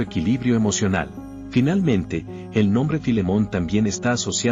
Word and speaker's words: Philémon: En français canadien, le nom apparaît sous la forme Philémon, avec l'accent tonique sur la dernière syllabe.